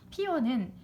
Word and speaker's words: 피어: 피어는 표준 발음이 그러니까 어가 단모음이야. 근데 반모음 이가 첨가된 여도 표준 발음으로 인정하죠.